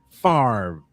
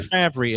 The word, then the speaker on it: Favre: the name of Brett Favre or or Favry as I incorrectly I incorrectly I I incorrectly pronounced his last name the first time I saw it.